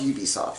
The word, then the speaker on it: Ubisoft: And as a bonus to Ubisoft, it's pronounced Ubisoft, right?